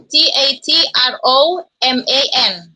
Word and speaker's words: Tatroman: T A T R E T A T R O M A N.